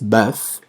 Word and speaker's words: bœuf: Bœuf es de res, ajá, en francés, bœuf, ¿ok? Recuerden que la O y la E es una letra que es compuesta, ¿ok? Entonces así se escribe y se pronuncia como si fuéramos a vomitar, ¿no?